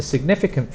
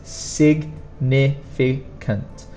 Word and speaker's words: significant: And then we have, and the pronunciation of this is, the stronger sound is the second one, significant, significant.